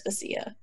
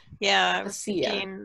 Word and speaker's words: Vasya: referred to her as Vasya. Oh, okay. Because Y's are supposed to be like an E. And I was saying Vasya in my head. Vasya.